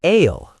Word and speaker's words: aisle: I know the word is spelled A I S L E, but the pronunciation is ale, like the S is invisible.